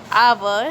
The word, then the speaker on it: hour: So students, look at the word hour. Here H is silent and the word hour sounds like a double A sound, that is a, hour.